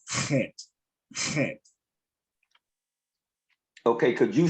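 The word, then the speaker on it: Chet: was trying to yeah you probably pronounced it as as as hit hit but but she's pronouncing it more in the um in the hebraic uh pronunciation of kent okay could you spell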